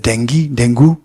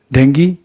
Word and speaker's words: dengue: Dengue? What is that? No. What's the pronunciation? Dengue? Both. You're getting it? It's not that one is correct and other is wrong. Both are correct.